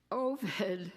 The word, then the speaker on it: Ovid: Ovid rhymes with COVID.